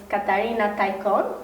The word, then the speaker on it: Katarina Taikon: I know about a writer, let's say, a Romani girl whose name is Katarina Taikon.